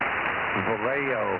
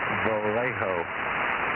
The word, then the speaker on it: Vallejo: just say the name of the town don't spell it I didn't get anything of it over valo valo Vallejo Vallejo yeah I know Vallejo I know all